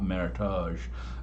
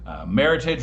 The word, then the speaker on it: Meritage: it's pronounced it's not meritage meritage rhymes with heritage and you may also